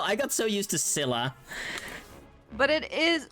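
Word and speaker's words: Scylla: Also, they pronounce Sila in this game as Skila, and I I don't like it. Yes, finally. I hate it. Oh, I don't know. I got so used to Sila, but it is like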